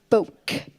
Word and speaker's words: Boeck: Speaking of Nashville, this is Katie Boeck, like folk, only spelled with kind of a German thing going on.